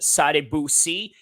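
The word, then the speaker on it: Sadibou: they are just announcing sad Bui I'm getting a little bit better with uh pronouncing his name it sounds like again saying Saddam Hussein but with a little pause in the end somewhere there so his nickname is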